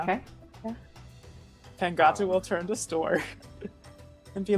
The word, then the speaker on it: Stor: store, like the store you shop in with the E. No E, STOR.